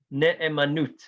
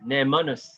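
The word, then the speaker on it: נאמנות: In Hebrew, it's called ne'emanut, the same root as emunah. I'm a ne'eman, ne'emanus in the Ashkenazi pronunciation.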